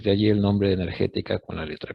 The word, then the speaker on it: Energetika: Clima en alemán se escribe con la letra K. Se lee igual, pero se escribe en vez de C, con letra K. Entonces, de allí el nombre de energética con la letra K.